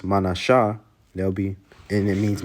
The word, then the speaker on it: Manasseh: Then you have Manasseh, which in the Hebrew is Manashah.